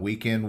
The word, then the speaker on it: WKND: Weekend Warrior, but it's spelled WKND.